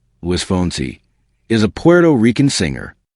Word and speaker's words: Luis Fonsi: Luis Alfonso Rodríguez López-Cepero, born April 15, 1978, known by his stage name Luis Fonsi, Spanish pronunciation, Luis Fonsi, is a Puerto Rican singer.